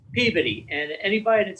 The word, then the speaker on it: Peabody: though it should be Peabody, and yeah, it's Peabody, and anybody that says Peabody would get looked at like they're a moron.